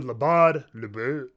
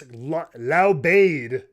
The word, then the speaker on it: Laubade: It's Laubade is like how you phonetically say it. But I'm going to say Laubade.